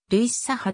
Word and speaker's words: ルイ・サハ: ポジションはフォワードなおフランス語で h は発音しないためより原音に近づけるとすれば類さあという表記になり英語読みするならルイサハとなるマンチェスターユナイテッド f fc